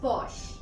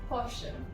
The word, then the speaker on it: Porsche: The next word is posh. Posh. Now posh comes from Germany. So in German it's pronounced as Porsche.